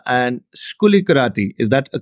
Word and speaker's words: Skoulikariti: exotic you know so there is nasia and skuli karati is that a correct way I'm pronouncing your names that's very good that's very